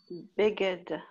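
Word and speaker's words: בגד: Par contre, dans le Beged, le Dalet se prononce.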